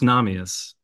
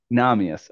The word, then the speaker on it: Namias: Now, the last name, I don't know that I know how you say it. I'm going to give a stab at it. Namias? Very close. Namias. Namias. Okay.